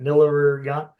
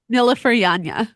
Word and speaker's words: Nilüfer Yanya: Nilleryan. Please help. Nilüfer Yanya.